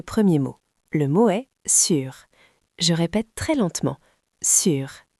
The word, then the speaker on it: sur: Le mot est sûre. Je répète très lentement sûr s U r. Attention à la prononciation, c'est le son U.